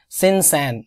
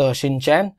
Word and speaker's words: CINCAN: था और ये 14वें सिनसैन, नॉट शिनचैन, इट्स सिनसैन, मैं जोक नहीं कर रहा हूँ, मैं सिर्फ बता रहा हूँ इस बात को कि आप प्रोनाउंसिएशन गलत ना कर लें, इट्स सिनसैन और वैसे भी एब्रीवेशन